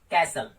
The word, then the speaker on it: कैसल: जैसे कैसल, तो यहाँ पे एल ई आया तो टी को हमने साइलेंट कर दिया।